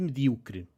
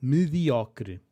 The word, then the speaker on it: medíocre: Pronúncia de medíocre. Boa tarde. Nos sotaques de português europeu, como dizemos medíocre? Spoiler. É como eu estou a dizer. Sempre disse mal mediocre, mas agora estou na dúvida se é medíocre ou mediocre.